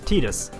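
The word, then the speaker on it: Tidus: now this guy officially his name is meant to be pronounced tetus which if you ask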